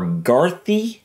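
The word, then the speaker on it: Gardaí: Irish pronunciation website, and it said Gardai or Garthi. Wasn't that what you heard? Gardai. I believe it's Gardai. But anyways, guys, so we're going to look at a funny compilation of the Gardai or Irish police.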